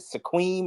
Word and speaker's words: Sequim: Is it Sequim or Squim? I What? can't remember from. I think it's Squim, I guess. Squim. Squim. Yeah, that's Squim.